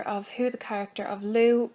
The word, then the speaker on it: Lugh: a brief reminder of who the character of Lou pronounced like an luu sound but spell l u